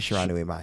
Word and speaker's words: Shiranui Mai: it's my Shiranui, but Shiranui Mai.